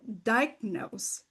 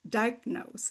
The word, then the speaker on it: diagnose: out a word like the word diagnose diagnose and she said you dropped the G the G there and so that I could fix a little bit faster.